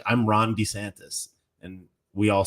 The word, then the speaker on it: DeSantis: to support would be more willing to support desantis you know what's kind of annoying i've noticed